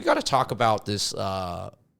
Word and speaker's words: Zha: Like, even just looking at ZHA, you would obviously think it's more like Niza, or something like that, but it's ZHA.